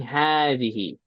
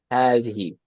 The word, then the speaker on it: هذه: And it's pronounced as saying هذه. هذه. It's pronounced like this, but it's not written. It's not written like that.